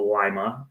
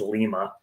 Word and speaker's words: Lima: But I was born in a small town in Ohio, Lima. A lot of people pronounce it as Lima, and kind of grew up between Lima and Zanesville.